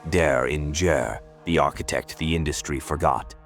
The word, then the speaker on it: Derringer: This is the untold saga of Rick Daringer, pronounced dare in the architect the industry forgot.